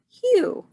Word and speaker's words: hue: a chameleon always changing hue hmm that is a new word for us hue hue rhymes with blue and it means different